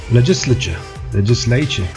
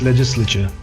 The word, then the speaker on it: legislature: Alright, legislature or legislature. Legislature. Usually it's legislature. Sounds better. But even if you say legislature, nobody can say that it's wrong. It's how you pronounce it. Both are correct, quite correct, but this just sounds way better, that's all.